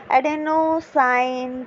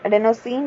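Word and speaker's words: adenosine: इन the form of एटीपी, एडेनोसाइन triphosphate, ठीक है। एडेनोसिन triphosphate भी बोल सकते हैं हम, वी can pronunciate it in anything, ठीक है।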